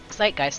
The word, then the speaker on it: zeitgeist: okay zeitgeist zeitgeist okay i know how it's pronounced now zeitgeist that jolts through you like light blasting down